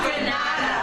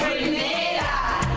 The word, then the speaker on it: Grenada: It's not Granada. It's Grenada.